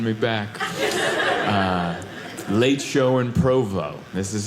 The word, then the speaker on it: Provo: I go, "Oh, I'm here in Provo." And they're like, "You said that so good." The pronunciation was perfect. Sometimes people get particular, you know?